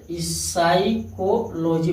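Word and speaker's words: psychology: P silent कब होता है? एस से पहले आया पी साइलेंट होता है। एस से पहले आया पी साइलेंट होता है। जैसे देखिए पी एस से पहले आया है। हा है पी। साइकोलॉजी पढ़ा जाता है।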